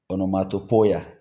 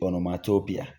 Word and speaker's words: onomatopoeia: Some say onomatopoeia, but I think basically it should be onomatopoeia.